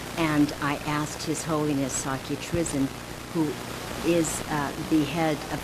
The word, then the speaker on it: Sakya Trizin: a follower of His Holiness, and would you pronounce his name for our viewers? Sakya Trizin. Sakya Trizin.